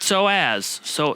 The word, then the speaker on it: psoas: Psoas. Psoas. It's a psoas. There's a P at the beginning, which really throws a lot of people. Psoas. I used to call it psoas, but that's not right either.